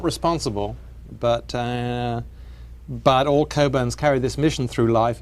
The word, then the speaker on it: Cockburn: I'm not responsible, but all Cockburns carry this mission through life: is your name is spelt Cockburn, but you pronounce it Cockburn.